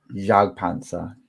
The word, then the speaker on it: Jagdpanzer: Jagdpanzer. You don't pronounce the J. You don't. Jagdpanzer.